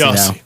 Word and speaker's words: Jesse: It's Yossi or something. It's something weird. It's a soft J. It's Jesse Yossi.